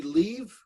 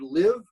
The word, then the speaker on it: live: The pronunciation of the word live came out to be leave. So leaving a building is different than living your life.